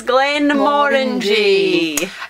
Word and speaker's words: Glenmorangie: trying some fruity whiskey that rhymes with and with orangey it's Glenn Warren G um neither have I